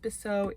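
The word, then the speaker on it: Bisou: name is besso martel i think it's pronounced biso i believe it's french so i'm not quite sure how to pronounce it b-i-s-o-u she um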